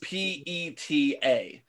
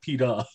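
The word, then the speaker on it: Peeta: It is pronounced PETA. Yeah, spelled, and but that's the character's name in Hunger Games. It's not Peter, he's PETA.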